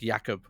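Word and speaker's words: Creutzfeldt-Jakob: Yeah, that's not how you pronounce it. I forget how you do pronounce. It's like Yakob.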